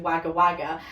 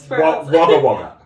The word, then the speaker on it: Wagga Wagga: In particular, I remember there was a pen museum, I believe it was in Wagga Wagga, and this man that I spoke to that